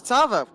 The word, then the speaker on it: Tarvo: catching back up to Tarvo. And I would like to apologise on behalf of Meadow to Tavo for continuously mispronouncing his name and putting a random R in it. It's Tarvo. Tavo.